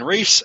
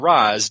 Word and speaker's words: Ra's: front out there, I will probably interchange the pronunciation between Ra's and Raz during this podcast.